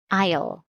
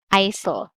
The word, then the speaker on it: aisle: Yes, this is silent S, so we read aisle, not ISIL.